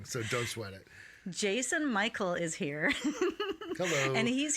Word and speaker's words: Mical: last name right uh it's actually Michael yeah name yeah it's okay for ages it's all good it's all good everyone says it wrong so don't sweat it Jason Michael is here hello and